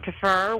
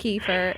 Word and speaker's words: kefir: It has fresh coconut, mango, pineapple, and then you get all that nutritious dairy because it's actually made with yogurt and kefir, which is drinkable, kind of a pourable consistency